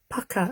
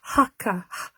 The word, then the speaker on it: Hakka: Pucker. Oh, Hakka. Beginning with a Hakka. Not pucker. Not like Jamie Oliver, no. Rhymes with pucker.